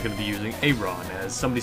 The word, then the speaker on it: Aron: I just say it like Acorn, except without the C. So it's Acorn, Aron.